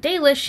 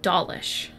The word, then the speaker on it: Dalish: Flukas says that while the narrator is doing a good job, they keep pronouncing the word Dalish as Dalish.